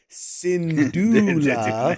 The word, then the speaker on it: Syndulla: Okay, yeah, see, I got people giving me the pronunciations. Here we go. Syndulla.